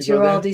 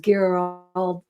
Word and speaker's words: Ghirardelli: I did Giraldi Square. Yes. Alcatraz Island. I think it's pronounced Ghirardelli. Ghirardelli, yes.